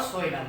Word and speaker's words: coelom: Cavity और कोइलम और सोइलम। What how जैसा अनाउंसमेंट करना चाहिए वैसा देख लो आप, बट स्पेलिंग COELOM है, M, ओके, सोइलम।